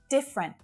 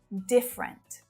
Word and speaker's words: different: Different. Not different, different, different, just 2 syllables.